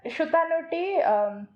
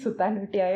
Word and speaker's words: Sutanuti: Shutanuti, I cannot call it Sutanuti. I'll just call it Shutanuti. Okay, that's how we pronounce it.